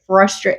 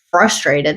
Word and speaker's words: frustrated: the word Cole and also say frustrated without the r why would you say frustr it's frustrated that's how it spells yeah frustrated is with